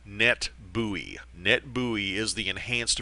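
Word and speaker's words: NetBEUI: extended user interface and we pronounce that abbreviation net buoy net buoy is the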